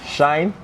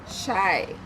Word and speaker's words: Shy: Shine? Shy.